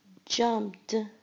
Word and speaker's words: jumped: Jumped. Jumped. Jumped. You hear the t sound at the end.